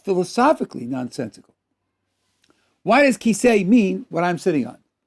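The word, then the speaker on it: כסא: Why does kisei mean what I'm sitting on? Why doesn't it mean glass of buttermilk or mosquito? Because there's a living tradition of people who tell you Kaf Samach Aleph, pronounced kisei, means chair.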